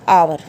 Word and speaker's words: hour: ये वर्ड आप हमेशा पढ़ते हो, HONEST, honest, HONOUR, ऑनर, HOUR, आवर। तो यहाँ पे H क्या होगा, साइलेंट। ऑनेस्ट बोला जाएगा, H को नहीं बोला जाएगा, ऑनेस्ट बोलेंगे, ऑनर बोलेंगे, आवर बोलेंगे, ठीक है।